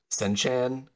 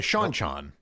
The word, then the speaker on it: Seanchan: 2 decades, which is Senchan. Oh, the Seanchan. Seanchan. Thank you. Yeah, okay. It's because it's Cean as in Sean.